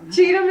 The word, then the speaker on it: Cheatham: I've heard someone pronounce it different. Cheatham and Cheatham and she answers to all of it, right? Cheatham is correct though.